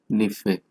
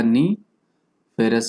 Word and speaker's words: NiFe: और यू कैन से इट निफे। निकल का नी, फेरस का फे, तो निफे भी कह सकते हैं इसको।